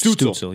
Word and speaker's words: Stützle: It's got an OO where the U would be. So like Stützle. yeah. It is Tim Stützle.